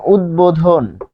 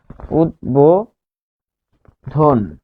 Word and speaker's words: উদ্বোধন: থাকবে তাহলে কিরকম যেমন উদ্বোধন উদ্বোধন এটির উচ্চারণ কি যে উদ দেখুন উদ তারপর বো উদবো ধন উদ্বোধন কারণ কি ধ এর